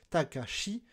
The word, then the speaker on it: Takashi: C'est comme s'ils ne faisaient pas de différence de prononciation entre le nom Takashi, qui se prononce Shi, et le nom Takemichi, le héros de Tokyo Revenger, qui se prononce Chi.